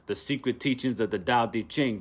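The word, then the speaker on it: Tao Te Ching: secret teachings of the dao di ching pronounced dao de ching co-written by mantak chia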